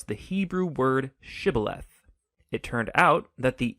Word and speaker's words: shibboleth: wanted to cross to pronounce the Hebrew word shibboleth. It turned out that the Ephraimites had grown up pronouncing that word differently, so instead of saying shibboleth, they would say sibboleth.